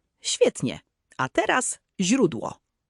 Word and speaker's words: źródło: A teraz źródło. Źródło. Prawie. Pamiętaj, że zi, miękkie, jest bardzo delikatne. Język musi być przy podniebieniu.